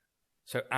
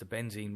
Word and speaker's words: بنزين: رقم أوكتان فوق الـ100 فيه ناس تقول بنزيم بالميم وذا النطق غلط ولا يمت للواقع بصله لذا المركبات الأروماتية "العطرية" اللي على شكل سدادسي مثل حلقة البنزين أرقام أوكتانها فوق 100